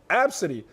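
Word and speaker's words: Abcde: is spelled a b c d e it's pronounced absentee it's an unusual name but apparently a gate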